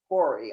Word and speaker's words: hori: a hand pool and it's called a hoary hori i'll spell that for you that's h o r i